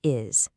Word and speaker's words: is: Listen to the word is. It sounds like it has a Z at the end.